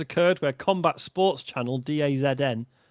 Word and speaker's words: DAZN: Big Bad Gary Doot and the UK's #1 Gary says a situation has occurred where Combat Sports Channel DAZN, is that how they say it? That's the zone.